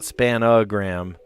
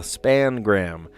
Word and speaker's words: spangram: I didn't correct them or anything, but I was like, ooh, that makes me feel weird because I call it what it is. It's the spangram, not the spanogram.